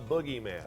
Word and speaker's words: Boogeyman: nailed it there all right check out the boogieman and that is the correct pronunciation it is the boogieman absolutable at a bookstore near you